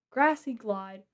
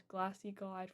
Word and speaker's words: Grassy Glide: Okay, good predict on the Grassy Glide. I always mispronounce that. I always mispronounce it as Glassy Glide for some reason.